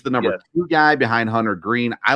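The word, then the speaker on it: Hunter Greene: nothing to do with is it hunter green I feel like I got that name wrong that's the yeah I think you got that right okay yeah you got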